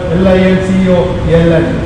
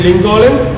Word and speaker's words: Lincoln: And the specialty of this word, L-I-N-C-O-L-N. Here, this word is silent. Don't read it Lincoln, it is Lincoln.